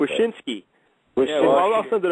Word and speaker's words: Wyshynski: I never could pronounce it. Wyshynski.